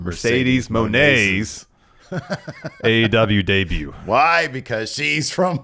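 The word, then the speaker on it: Mercedes Moné: be the date of Mercedes Monet Mercedes Monae gosh Mercedes Monet I still said it wrong Mercedes mon aw debut why because she's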